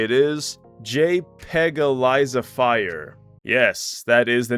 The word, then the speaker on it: JPEGalizefier: Or I guess a more proper way to say it is JPEG-alizify.